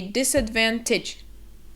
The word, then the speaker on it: disadvantage: It's kind of that tij sound that is very quick, so it's not tage, it's tij. So we say disadvantage, disadvantage.